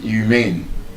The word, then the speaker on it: humane: When you say someone is humane, or the opposite, the antonym, inhumane, inhumane treatment. So, that word as an adjective, humane, is stressed on the second syllable.